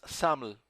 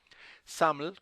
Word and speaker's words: XAML: SAML, como se pronuncia en inglés, el acrónimo de Extensible Application Markup Language, SAML es un lenguaje que